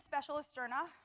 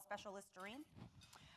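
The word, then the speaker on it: Specialisterne: So I work at Specialist Sterna. Don't worry about pronouncing the name. It means the specialists in Danish. The only thing I ask is that you don't call us Specialisterine.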